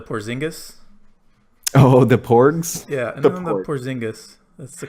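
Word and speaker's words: Porziņģis: spot for the porzingis oh-ho the porks yeah porzingis that's the correct way to pronounce it everyone's gonna love Porky's when they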